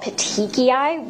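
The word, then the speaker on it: petechiae: And another thing that you can see with compression is what are called petiki, which is spelled p e t e c h i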